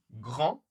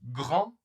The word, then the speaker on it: grand: Grand lent. Attention, encore une fois, on ne prononce pas le T ni le D. Ici, on ne prononce pas le G. Donc grand lent pareil en ma bouche est très ouverte hein.